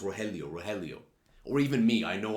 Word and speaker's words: Rogelio: I mean, heck, when I was looking at the Argentinian governor, I was like, his name's pronounced Rogelio.